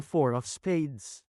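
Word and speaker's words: IV of Spades: sa pangalan ng bandang Four of Spades. Sa guesting ng banda sa It Showtime noong Miyerkules. Imbes na basahin bilang four ang IV, binasa ito ni Kim bilang IV.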